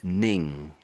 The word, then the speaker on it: Ning: his name is pronounced Ning, Ning, Ning. So if there was no G on the end, and it was basically the same name without the G, this would be Nin, Nin.